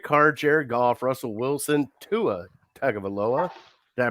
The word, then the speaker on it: Tua Tagovailoa: And then you got Derek Carr, Jared Goff, Russell Wilson, Tua Tagovailoa. Did I pronounce that right?